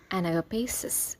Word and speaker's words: Anagapesis: প্রতি অনুভূতি ম্লান হয়ে যাওয়াকে ইংলিশে বলতে পারি এনাগাপেস এটি একটি নাউন অর্থাৎ ভালোবাসা যেখানে একেবারে শূন্য হয়ে গিয়েছে spelling A এন এ পি এস আই এস এনাগাপেসিস সত্য উপলব্ধি হঠাৎ প্রকৃত পরিচয় বা সত্য বুঝে